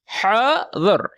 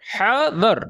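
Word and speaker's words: حاضر: फिर ड्राइवर कहता है जी हाजिर, हाजिर का मतलब हाजिर, हाजिर, ठीक है, थोड़ी सी प्रोनाउंसिएशन मुख्तलिफ है, हा का मतलब आवाज जो है आपने निकालनी है, और दर, हादर, हादर यानी कि यस सर।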